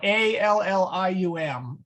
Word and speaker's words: allium: You split it in half. It is an L at the end of the syllable, and an L at the beginning of the next syllable. So, okay. There's two sounds, not one, and so it would be an L sound and not a Y. Yeah, so A-L-L-I-U-M is allium.